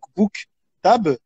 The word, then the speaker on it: Bouktab: mon nom de famille cook table il ya deux syllabes la première syllabe book en anglais qui veut dire libre et la deuxième syllabe qui tape qui veut dire livres en arabe donc j'ai toujours dit que